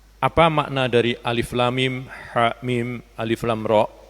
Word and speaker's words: الم: Nah, huruf muqat'ah bacanya tidak disatukan sehingga alif lam mim jangan dibaca alam, ha mim jangan dibaca ham. Kemudian alif lam mim ro jangan dibaca almer tapi dia dibaca secara terpisah.